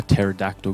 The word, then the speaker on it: pterodactyl: well I can't you hear a pterodactyl go to the bathroom because the P is silent I guess you got